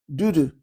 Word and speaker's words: dudu: And they they they have a word called dudoo. Dudu. It's spelled du du.